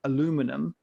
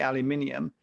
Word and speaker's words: aluminium: They say things like aluminum, where we say aluminium. But in actual fact, aluminum was the original pronunciation.